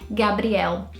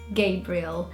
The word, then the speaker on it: Gabriel: So the Brazilians would say Gabriel, and the Brits would say Gabriel.